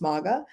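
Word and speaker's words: mawga: In my Creole language, the word maga, but it's spelled M-A-W-G-A, maga, but it's pronounced maga.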